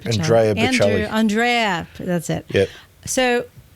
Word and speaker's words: Bocelli: SCG, and I was curious because they had Botticelli, opera singer. Yeah, that was months ago though. Bocelli? Yeah. How do you say his name? Andrea Bocelli.